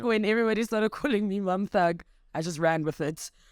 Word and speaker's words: Mamthug: I think the inception of Mam, it's actually Mamhug. The T is silent like Tando. Jade. Nje. And I think when everybody started calling me Mamthug, I just ran with it.